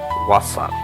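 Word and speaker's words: Wasser: उसके बाद जर्मन में पानी को वासा इस तरह कहते हैं, वासा प्रोनाउंसिएशन जो होगा वो वासा इस तरह होगा।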